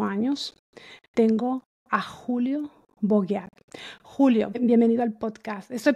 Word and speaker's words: Bogeat: la edad de 8 años, tengo a Julio Boguear. Julio, bienvenido al podcast. Estoy pronunciando bien tu nombre. El Bogat lo estoy pronunciando bien. Es Bogat.